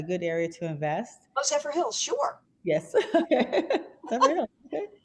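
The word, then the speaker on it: Zephyrhills: She says, I don't know how to pronounce it, Zephyrillis, Florida, a good area to invest? Oh, Zephyr Hills, sure.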